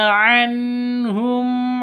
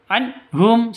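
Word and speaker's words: عنهم: Kasyafna anhum adzabal anhum. Nun mati bertemu dengan ha. Cara bacanya jelas terang karena bacaan izhar halqi. Jadi tidak boleh didengungkan, tidak boleh disentak. Anhum salah. Anhum juga salah. Yang betul anhum.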